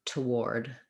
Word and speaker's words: toward: to a tah and then you can think of ward like the word war just think know that it's an o r sound even though we spell it with the letters ar just like the word war for example um world war one um so for that one you would try um or war toward toward toward your goal